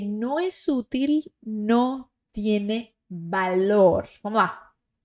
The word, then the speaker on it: valor: Aquello que no es útil no tiene valor. Vamos lá. Este V E todos os outros V do espanhol têm som de B de bola, ok?